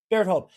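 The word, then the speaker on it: Bertolt: Bertold.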